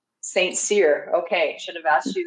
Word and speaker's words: St.Cyr: you is it Saint how do you say your last name it's St Seer Saint seir okay should have asked